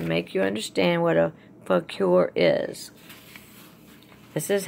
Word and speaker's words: fakir: And I did do something extra for you to make you understand what a fakir is. This is how you say it. Fakir is a Muslim Sufi holy man or woman who lives on only what he or she begs for.